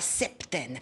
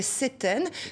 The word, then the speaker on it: septaine: En moyen français, on ne prononçait pas le P, on disait septaine, comme 7, le chiffre, on ne prononce pas le P dans 7, alors que dans septembre, ou dans 70, comme disent les Belges et les Suisses. Ce sont des mots donc, qui ont la même racine que le mot 7, septaine. On le prononce, le P.